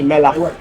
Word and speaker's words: מלח: I learned to pronounce it good Moroccan. Melach. Yeah, because in Hebrew accent it would be melach.